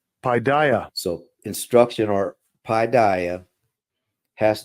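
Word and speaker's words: παιδεία: Well, first of all, it's pronounced like this. Strong's G 3809. Paideia. Paideia.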